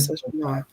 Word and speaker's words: misogynoir: Yeah, the French. Misogynoir. Yeah, you said it right.